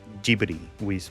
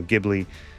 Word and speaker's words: Ghibli: We looked it up. That's how you say it. That's how they say it in Japan. Ghibli. Some people say Studio Ghibli.